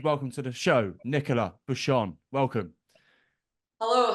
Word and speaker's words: Buchan: is so that's right it's actually pronounced ban okay but when I am competing everyone calls me bushan go so I could